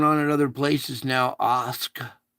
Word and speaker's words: Askja: Askja. That J is a Y. It's Askia. Ask you how to pronounce it.